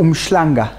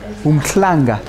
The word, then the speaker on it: Umhlanga: Well, what's the correct pronunciation? Umhlanga or umhlanga? Umhlanga. A Zulu person will tell you umhlanga. But person from Sandton, how do they pronounce it? I'm going to umhlanga.